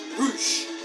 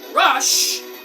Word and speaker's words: Rush: Roosh. But they say but it's pronounced Rush, but they say Roosh.